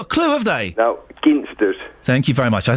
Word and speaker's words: Ginsters: Well, being a Cornishman, it's Ginsters. Hard G.